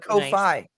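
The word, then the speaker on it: Ko-fi: Also, it's pronounced Kofi.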